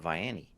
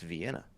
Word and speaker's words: Vienna: I said, well, why are you calling it Vianney? She goes, because that's what I was taught as a kid. And she goes, that's what my grandma called it. That's what everybody calls it. I said, well, honey, it's Vienna. Vienna sausages.